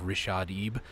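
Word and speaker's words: Richaadeb: youtube it's a guy by the name of rishadeeb that's how you say it it's r-i-c-h-a-a-d-e-b rashadeep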